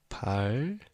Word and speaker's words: 밝은: So this 은 right here is pronounced 근. 근, not 은. Okay, so this is just by itself is 은, but since this 밝은 is light, so for the double complex consonant, this is for the pronunciation. You have to imagine that it becomes this. So it's 발. So for pronunciation, 밝은.